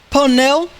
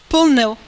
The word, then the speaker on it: pneu: Então, quando eles pronunciam pneu, eles pronunciam somente o pneu, o P. Eles não falam pneu como a gente fala.